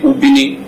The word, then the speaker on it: Ubini: So they named it Ubini.